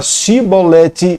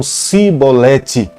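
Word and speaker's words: שיבולת: E quando se falava pronuncia a palavra chibolete, eles falavam cibolete.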